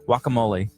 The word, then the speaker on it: guacamole: we're gonna need to work on your your pronunciation of that wakka moly walk one that way you get you walk